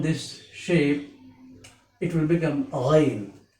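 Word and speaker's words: غين: Because when we pronounce the letter Ghain, we hear the similar sound at a time when we gargle with the hot water or salt water. Therefore, we say the letter Ghain has a gargling pronunciation.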